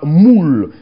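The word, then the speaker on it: muwl: La circoncision, c'est le mot moule, qui s'écrit M-U-W-L, moule, M-U-W-L, c'est moule, ça signifie circoncire, ça signifie se laisser circoncire, ça signifie couper, ça signifie être taillé.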